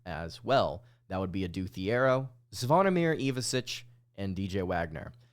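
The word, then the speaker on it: Adou Thiero: going up against as well that would be a do theier zir evasic and DJ Wagner apparently it's actually pronounced ad do Theo which he corrected people on once he got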